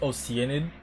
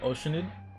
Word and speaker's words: Oceanid: some related information there it's pronounced oenid not oceanid okay my bad so